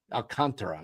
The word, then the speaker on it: Alcantara: Alcantara is how you say it.